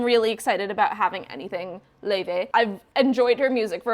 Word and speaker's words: Laufey: So up next is Lova. Oh, I'm gonna look up how to say her name. This is ridiculous. Laufey. Okay, that's so much easier than whatever crap I was doing.